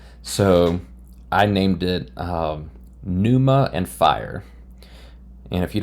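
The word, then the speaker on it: pneuma: So, I named it um Numa and fire.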